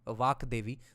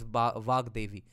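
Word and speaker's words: Vāgdevī: Davi of vaks but does not mean that the utaran is V vak DVI the the pronunciation is always vag DVI yeah I forgot about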